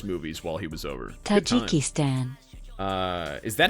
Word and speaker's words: Tajikistan: Tajikistan. Is that how it's pronounced?